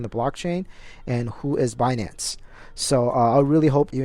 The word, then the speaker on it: Binance: really cool name it's binance like it's not beyonce you know as some people pronounce it so it's binary finance